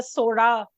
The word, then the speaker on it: Chola: just letting you know some of us will be saying Chola because we can't do the Sora pronunciation properly so you will hear Chola sometimes and Sora sometimes don't um so let me